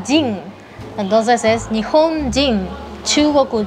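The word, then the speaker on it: 人: Ahí en ese caso, en japonés se pronuncia Jin. Entonces es Nihon Jin, Chugoku Jin, ¿sí? Mientras que en chino se pronuncia, se sigue pronunciando Ren, sería Ripen Ren.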